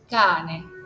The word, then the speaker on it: cane: Porque esta, o sea, la pronuncia de la C a es tal cual. Cane. Okay. Arrancas la acentuación y bajas. Cane. No tengo doble N, por eso puedo bajar.